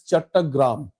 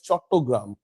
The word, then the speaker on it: Chattogram: The Sanskrit or Indian term for that is Chattagram. So in Bengali pronunciation, we call it Chattogram.